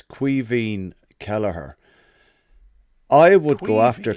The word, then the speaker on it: Caoimhín: Bryn wants to know how you pronounce the Irish keeper's name, the Scouser number 2. It's Caoimhín Kelleher.